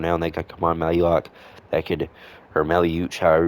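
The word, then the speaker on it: Maluach: That's how I pronounced his name before in the past, but I heard Malak. So, we're going to use that from that one.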